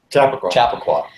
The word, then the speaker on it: Chappaqua: They were in a basement in, how do you pronounce it? Chappaqua? Chappaqua.